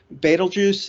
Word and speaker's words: Betelgeuse: time by our forebears baitul juice is a Arabic name as it was actually it's not actually pronounced that way but it's an Arabic name whose pronunciation got butchered by European astronomers and then passed down